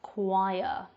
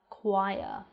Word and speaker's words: choir: one we're going to be talking about is choir choir now this word is difficult to pronounce because we've got the over-40 I but